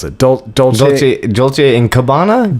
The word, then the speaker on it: Dolce: And it's this guy for, how do you pronounce it? Dolce and Gabbana? Dolce.